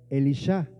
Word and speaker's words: Elisha: En tiempos de una corrupción espiritual, Eliseo, en hebreo se pronuncia Elishaá y significa Elohim es salvación.